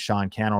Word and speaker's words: Sean Cannell: My name's Sean Cannell, rhymes with YouTube channel.